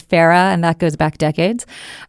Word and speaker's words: FARA: thank you Brandon and thank you for pronouncing Farah correctly one of my pet peeves is Farah it is Farah and that goes back